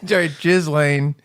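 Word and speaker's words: Ghislaine: jiz Lane just just I don't think there's a pause between the syllables jiz Lane uh she went to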